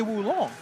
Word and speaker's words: Wulong: Let's say it correctly. Yes, I really do. Wulong.